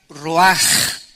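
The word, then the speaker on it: רוח: es la palabra hebrea Roach que se pronuncia raj la ch en el hebreo se pronuncia como j y que es la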